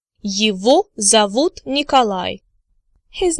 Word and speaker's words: его: Now you remember from supplementary materials from previous lectures that G in the word его is actually pronounced as V.